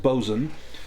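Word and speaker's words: boatswain: Uh, it's spelled like boat swain, but it's pronounced bzan.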